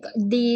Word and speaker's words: the: Jadi di ini ya, kalau dia ketemu dengan huruf atau kata yang diawali oleh huruf vokal, maka dia dibacanya di. Oh, Di. he Tapi goes. kalau ketemu dengan huruf apa? Ketemu dengan huruf konsonan, kata sebuah kata yang berawal dengan huruf konsonan, makanya dia dibaca the.